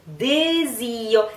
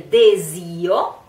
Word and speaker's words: desio: E nel desio. Here we have two S that are pronounced, S that are pronounced Z, Z, Z. So, in this case, S is pronounced like a Z.